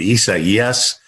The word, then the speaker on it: Isaias: I mean, Isaias.